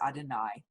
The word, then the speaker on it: Adonai: Though we pronounce these letters, known as the Tetragrammaton, as Adonai, the word really consists of four vowel-like sounds, sometimes pronounced by non-Jews as Yahweh or Jehovah.